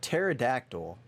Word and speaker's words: pterodactyl: how to spell it it's pterodactyl but there's p in the front it's like opossum yeah